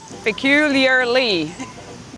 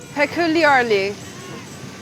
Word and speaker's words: peculiarly: Peculiarly. Okay, that's the right number of syllables, but where's the main stress? Peculiarly. Q, the second syllable. Peculiarly. Peculiarly.